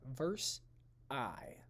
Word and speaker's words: Versailles: looks like but it's peace treaty of versailles verse i is how you pronounce it so treaty of versailles